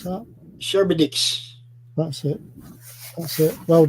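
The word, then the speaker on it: Charybdis: of shower oh dear c-h-a-r-y-p-d-i-s if you can pronounce that sherbetix that's it that's it Well Done yep yeah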